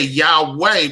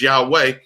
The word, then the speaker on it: Yahweh: he was a german he took the u out of yahuwah and he put the w in and then they just made a sound like yahweh so you know people are starting to pronounce that as yahweh because they see the w that is there okay okay thank you